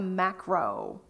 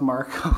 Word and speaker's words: Marco: print services, RFP, to Macro. Do we have a video for this? Or, I'm sorry, it's Marco. Oh, I don't know if I Marco, spelled it wrong, sorry. but it is pronounced Marco.